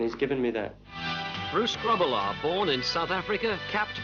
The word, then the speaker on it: Grobbelaar: If you took one B out of my name and one A, yes, and substituted the last A for an E, it'll be pronounced Grobbelaar, and that actual pronunciation in Dutch means clumsy.